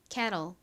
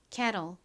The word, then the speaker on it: kettle: kettle, kettle. 한국식 발음은 kettle이죠?